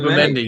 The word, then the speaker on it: Zubimendi: How do you pronounce it? Zubimendi. Yeah. Yes, Zubimendi.